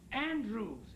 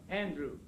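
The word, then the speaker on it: Andrewes: A man by the name of Lancelot Andrews. A N D R E Andrews. W S E A N D E R E W S E Andrews.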